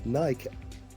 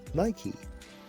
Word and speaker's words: Nike: For example, you'll notice in Bangla, they say Nike as Nike, whereas in Italian, they pronounce it as Nike, whereas in its original Greek, it's Nike.